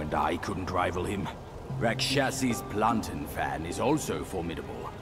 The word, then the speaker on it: Rakshasi: Okay, Rikshasi is actually Rakshasi.